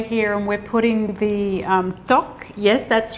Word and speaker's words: tteok: But the base is bubbling away here and we're putting the tteok. Yes, that's right. You're pronouncing it beautifully.